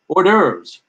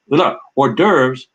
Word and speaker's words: hors d'oeuvres: the dovers so um horse horse hors d'oeuvres is a rough approximation of the original pronunciation and unfortunately today many